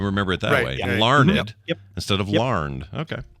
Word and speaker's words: Larned: And it is pronounced Larned, Kansas. It is Larned. Okay, so not learned.